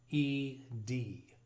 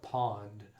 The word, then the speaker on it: pwned: Now the word pwned, that's spelled Pwned. Every time I see it, I want to call it pond, but it's accepted in the industry that the correct pronunciation is pwned.